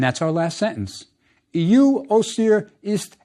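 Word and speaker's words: Osiris: we add o Cirrus which the ancient Egyptians pronounced OCR remember the Greeks add all those is endings next add Isis and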